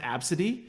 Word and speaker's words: ABCDE: seen that absolutely is she named it like it's pronounced absidy okay but the fact